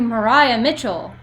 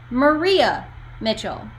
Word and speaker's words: Maria Mitchell: When I was applying for my gap year, I applied to Mariah Mitchell. But if you look at it, most people pronounce it Maria Mitchell.